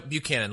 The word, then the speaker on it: Buchanan: No, Buchanan, like Pat Buchanan.